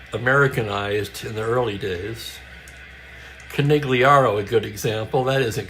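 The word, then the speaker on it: Conigliaro: G's are never pronounced in the Italian language. Think Don Corleone.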